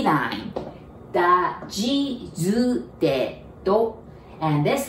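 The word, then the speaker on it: ぢ: Da, ji, zu, de, do.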